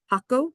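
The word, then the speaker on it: Jacó: like the town of Jaco is how you actually pronounce it in Spanish. The silent J, how we think of it as being silent.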